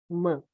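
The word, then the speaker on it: ímã: Na palavra imã, a sílaba mais forte é o quê? É i, e não man.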